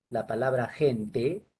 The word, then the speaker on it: gente: De manera que, por ejemplo, tú quieres representar fonológicamente la palabra gente, que se escribe con G, pero ahí la G suena como J, entonces sería así.